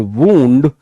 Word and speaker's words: wound: लेकिन इसी को जब आप फर्स्ट फॉर्म बनाते हो WOUND, then the pronunciation will be changed, now it will be called वूंड, एंड the second and